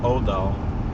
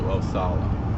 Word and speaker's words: Othala: So it seems that even this letter is connected there, especially as it's sometimes pronounced Odal as opposed to Othala.